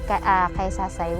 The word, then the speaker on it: Caysasay: known as takasaka side that's why a lady of kaisasai was called before until the spaniards can't pronounce it correctly they called it kaisa aside that's why they called it the early day of quesadilla so this is the